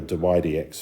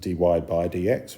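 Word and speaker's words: dy/dx: um that's why the dydx form is important and it's pronounced d y d x the UK people pronounce it d y by DX which is a waste of a syllable so d y d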